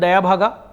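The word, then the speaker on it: Dayabhaga: का एचएफ चलता है एक को बोलते हैं दया भागा कोई दाय भागा बोलते हैं इट इज वन एंड the same English spelling है डी ए वाई ए बी एच ए जी ए तो दाय भागा बोलो दया भागा बोलो दाया भागा बोलो दय भागा बोलो जो अच्छा लगता है बोलो मुझे कुछ फर्क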